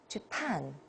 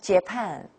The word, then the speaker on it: Japan: And this one, Japan. Hear the difference, Japan, not Japan.